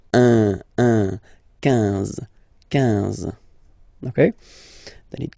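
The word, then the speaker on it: onze: Okay, then 11, 11. Okay, so O plus N give you the sound on, 11, 11.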